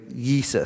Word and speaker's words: Jesus: will name him Jesus, it would be actually pronounced with an I first, right? You, like Yeesus, something like that. And when the name gets translated into English, we transliterate it, we pronounce it Jesus.